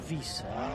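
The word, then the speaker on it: Wisse: Oh, W-I-S-S-E. But it's a Vis.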